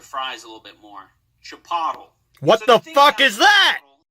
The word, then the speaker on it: Chipotle: And apparently, Chipotle is pronounced Chipotle.